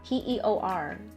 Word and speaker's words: peor: How do you pronounce that? P-E-O-R.